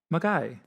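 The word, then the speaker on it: Milngavie: Mulgai. So What? Mulgai. Mulgai. It's spelled Milngavi.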